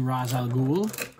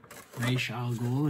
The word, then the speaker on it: Ra's al Ghul: So, thanks to Ra's al Ghul, Ra's al Ghul, if you want to pronounce it that way, and the Lazarus Pits, that which was lost was once again found.